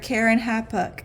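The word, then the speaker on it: Keren-happuch: okay and his third Karen hapuk again it looks exactly how it sounds uh I just looked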